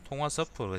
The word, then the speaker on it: 통화 스와프: 통화 스와프가 있는데 내가 이게 발음을 통화 스와프라 그래야 됩니다. 통화 스와프. 그러니까 통화라는 게 우리가 전화하는 그 통화가 아니고 돈 할 때 통화라는 의미거든요.